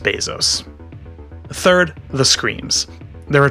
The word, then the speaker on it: Bezos: have so many people struggling to say his name you know bezos beezus bezas it's just bezos third the screams there